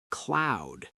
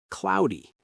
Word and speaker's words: cloud: Another tricky one is cloud and cloudy. The o u sound can be difficult. Cloud like loud.